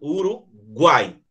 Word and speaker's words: Uruguai: Uruguai. Guai. Desce no U, sobe no A e desce no I.